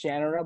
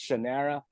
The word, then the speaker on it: Shannara: Of course, if Terry Brooks is saying it, it's Shannara, but for some people, it's Shannara. However you want to say it. Yeah, however you want to read it or say it.